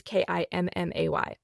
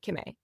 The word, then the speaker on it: Kimmay: And just for context, my name is Kimmay. It's not Kim and the letter A anymore. I've just like truncated it and made it Kimmay.